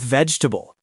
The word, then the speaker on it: vegetable: Same with vegetable. It's not ve, it's vegetable. Three syllables. If you pronounce that second e, you sound like you're from the 1800s.